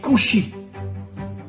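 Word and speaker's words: כושי: En hébreu, le mot noir se dit kushi.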